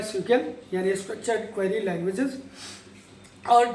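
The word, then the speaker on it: SQL: अभी हम आगे और चलेंगे जिसमें सीक्वल को पढ़ेंगे, एसक्यूएल जिसको आप लोग कहते हो बट प्रोनाउंस किया जाता है सीक्वल, यानी स्ट्रक्चर्ड क्वेरी लैंग्वेजेस, और डेटाबेस कैसे हम क्रिएट करते हैं इनको भी सीखेंगे।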